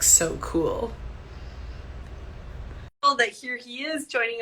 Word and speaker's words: Sokol: And then he also likes to remind us that his name, if we say it correctly, sounds like so cool.